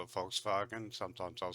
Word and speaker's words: Volkswagen: it would be pronounced Volkswagen at night Volkswagen so just imagine that it was spelled with an f and V instead folks wagon this literally